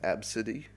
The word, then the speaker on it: Abcde: her daughter's name was spelt ABCDE but it's pronounced AB City so very much shocker if I'm this Airport